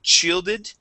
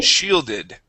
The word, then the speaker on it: shielded: word is shielded okay this is an sh sound you had said shielded okay with a CH this is sh shielded try that please shielded good